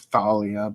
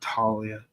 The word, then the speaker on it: Thalia: Her actual name is Thalia, but I said Talia because of Hero.